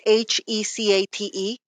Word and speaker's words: Hecate: It's Hecate.